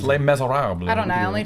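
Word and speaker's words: Les: Lees that's the way it's not L Miz the French don't pronounce it that way it's Lees I don't know I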